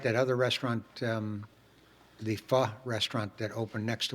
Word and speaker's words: pho: PHO, it's pronounced pho.